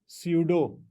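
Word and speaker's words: pseudo: अब हम चलते हैं अपने थर्ड वाले रिएक्शन की टाइप के ऊपर, दैट इज स्यूडो। ये P साइलेंट है, स्यूडो फर्स्ट ऑर्डर।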